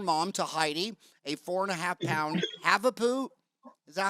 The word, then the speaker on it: Havapoo: She is the proud owner, mom to Heidi, a 4.5-pound Havapoo. Is that how you say it, Havapoo?